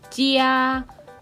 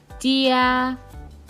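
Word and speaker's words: 家: คะ อ้า บ้าน ใน ภาษา จีน ออก เสียง เจีย เจีย เจีย แปล ว่า บ้าน ใช่ ไหม คะ เจีย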